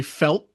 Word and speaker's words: felt: Um, I imagine maybe all of you live here, but um, but yeah, I would say the sentence, I felt So, see, I'm not saying the T.